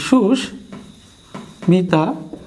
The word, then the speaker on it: সুস্মিতা: তারপরে সুস্মিতা, এই সুস্মিতা, সবশেষে কুষ্মাণ্ড। খেয়াল করো প্রিয় স্টুডেন্ট, সবগুলো ময়ের কিন্তু স্বাভাবিক আচরণ হয়েছে, অর্থাৎ দ্বিত্ব উচ্চারণ হয়নি, স্বাভাবিক উচ্চারণ হয়েছে, অর্থাৎ কোনোটাই কিন্তু ফলা না বর্ণ।